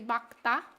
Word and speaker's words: 맑다: The correct pronunciation should be 맑다. But I don't know. I'm used to pronouncing it as 맑다.